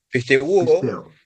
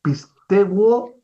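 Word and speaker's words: πιστεύω: Pisteuo. Esta es piste u o. Se pronuncian todos los vocales. Ya, profesor. Se pronuncia pisteguo.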